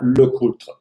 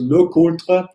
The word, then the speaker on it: LeCoultre: what you want but I will continue to pronounce his Yaga Lakota I say Yaga in a more German way and look older in the French way because locota he is from the valley Lulu and he